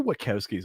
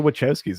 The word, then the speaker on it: Wachowskis: batman fatigue that they're like well get the watkowskis on it which was keys so did i pronounce the wrong workout skis is what you